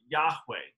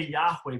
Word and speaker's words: Yahweh: know the precise pronunciation we say Yahweh because that's the closest approximation but we don't actually know that original pronunciation um what the Hebrew